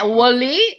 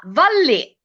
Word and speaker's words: Wally: però la pronuncia non è Wally, ma Valli. Valli, ok. But what kind of pronunciation is this? Italian pronunciation, of course, because W should be Wally. Instead, that's Italian pronunciation.